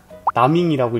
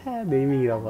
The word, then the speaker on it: 네이밍: 나밍이라고 읽었는데 네이밍이라고 하더라고요.